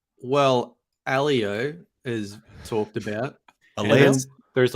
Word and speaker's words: Aleo: Aleo. Pronounced with a long M.